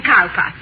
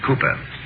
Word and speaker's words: Cowper: that Mrs Hall William carper hmm uh it is spelled Cowper but pronounced Cooper sorry confusion dating back